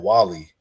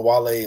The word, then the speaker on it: Wale: Because basically, like, he didn't even like pronounce his name right. He said Wally. Like, come on, bro. Like, you don't know Wale like at all, But like, and it